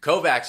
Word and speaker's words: Kovacs: want to say Kovacs at the beginning of the books there's always someone who says his name wrong and in parentheses he goes not spelled like they always miss the fine Czechoslovakian sound that it's supposed to be and so I've been